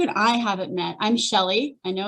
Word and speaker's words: Shelly: If you haven't met, and if you and I haven't met, I'm Shelly. I know it's spelled weird, right?